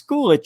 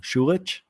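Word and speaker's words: Schulich: is a graduate of york's university's schoolish school of business and a native of thornhill ontario i know i said it wrong shulich robin doolittle joined the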